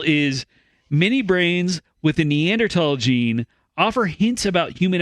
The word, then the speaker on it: Neanderthal: many brains with the neanderthal gene offer hints about human evolution are you pronouncing it right yes it's pronounced neanderthal it comes from the neander valley of germany nobody nobody says that